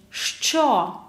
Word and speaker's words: Що: Що? Pay attention to pronunciation. Що? Що це? Hard pronunciation, affricate from 2 sounds. Ш, ч.